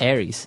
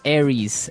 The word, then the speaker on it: Aries: famous fire signs is Aries right mhm mhm Aries it's like the god of war in the Greek mythology that's right and uh so it's pronounced Aries Aries a r i e s Aries that's